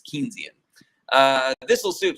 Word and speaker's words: Keynesian: I think it's called Keesian. I never can remember how to pronounce that word. Uh, Keynesian, I think is how you pronounce it. I think it's Keynesian.